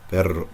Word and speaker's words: perro: Try to take that D away from the roof of your mouth, and you'll get left with the double R. Perro, perro, perro, perro, perro, perro.